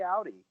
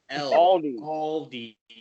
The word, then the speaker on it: Aldi: You need to learn how to pronounce the L. Yeah, take it from me. Aldi.